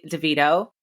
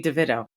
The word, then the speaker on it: DeVito: tomato um yes so NY Mater and Tori Devito we we decided it was DeVito right not